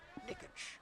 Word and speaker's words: Niksch: So if you're looking for a future autograph on a baseball frame, his last name is spelled Niksch. Nikich.